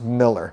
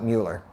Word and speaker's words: Mueller: area of East Austin it's actually pronounced Miller however here everybody wants to call it Mueller whichever way you go the correct pronunciation is actually Miller some other areas of